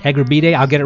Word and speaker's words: Egurbide: We're here with Egerberti. I pronounced that correctly? Egerbide. Egerbide.